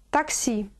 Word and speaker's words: такси: Такси. Такси. Ударение на первый слог.